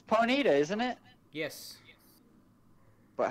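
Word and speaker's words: Ponyta: it's uh six seven nine nine nine it's ponita isn't it yes but how do you spell it I just put it on your thing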